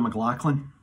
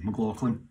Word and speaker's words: McLachlan: Hi everybody, I've been asked to sing this song by Sarah McLachlan. That's my pronunciation of McLachlan, McLachlan, as it may know.